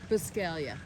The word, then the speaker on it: Buscaglia: So now, how do you say your last name? Biscaglia. Biscaglia. Okay, Yeah, the because- G is silent, like lasagna.